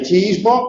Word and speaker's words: chiismo: En chiita y en chiismo, por lo tanto, tenemos palabras llanas que acaban en vocal. Las palabras llanas que acaban en vocal no se acentúan.